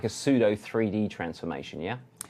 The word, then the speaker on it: pseudo: And so this is kind of like a pseudo 3D transformation, yeah? Pseudo is the right way to say it.